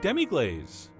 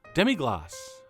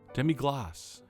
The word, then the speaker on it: demi-glace: our epic two-part series on how to make demig glaze or as thousands of French people on the YouTube comments from the first part are insisting I pronounce it demig gloss demig gloss demig gloss that's not that hard I think